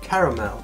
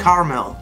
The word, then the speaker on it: caramel: And a Mars bar is soft chocolate inside with a layer of caramel. Not caramel. Caramel. Caramel. Say all the syllables.